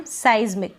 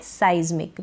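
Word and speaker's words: seismic: और यहां पर पढ़ रहे हैं हम साइज्मिक। क्या पढ़ रहे हैं? साइज्मिक। इसका प्रोनाउंसिएशन है साइज्मिक।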